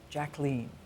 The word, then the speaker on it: Jacqueline: And by the way, that is how she pronounced her name, Jacqueline.